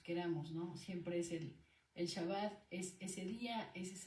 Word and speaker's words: Shabbat: Lo que comentaba aquí del Shabbat, no lo correcto, porque es un estudio profundo, no es decir Sabbat ni Shabbat, la terminología correcta es Shabbat, ese es lo correcto, ¿no?